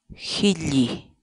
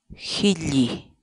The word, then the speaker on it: hilli: de vídeos en la que te enseñamos a pronunciar algunas palabras en quechua así que nuestra palabra del día por hoy es healy geli geli la palabra quechua si lee en español significa